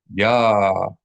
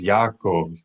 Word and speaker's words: Yaakov: Make sure you pronounce this as three distinct syllables, not two syllables, three syllables. Many people mistakenly pronounce this name, Jacob, as Yaakov, because in English it's Jacob, two syllables, but in Hebrew it is not just the name Jacob with the Y replacing the J. Rather, it has an entirely additional syllable that is absent from the typical English pronunciation. Ya-a-kov. Three syllables.